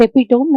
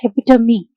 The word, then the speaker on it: epitome: The thing is, the pronunciation of this word is not epitome, it's epitome. The thing is, I recently get to know the real pronunciation.